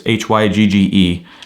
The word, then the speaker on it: hygge: books one of them i forgot how to pronounce it hygge it's hygge it's basically about happiness and how a way